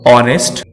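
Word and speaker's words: honest: कभी कभी एच शुरू में भी साइलेंट रहता है, जैसे आवर, ऑनेस्ट।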